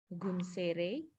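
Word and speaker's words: gunseirei: as i believe it's in japanese it would be pronounced as gun sere uh gun sere uh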